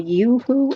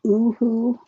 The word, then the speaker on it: Yoohoo: it's cheaper than the yoohoo and it is pronounced yoo-hoo not woohoo and I went right